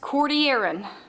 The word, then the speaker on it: Cordilleran: the west coast of north america that is pronounced cordy aaron not cordilleran okay cordian mobile belt on the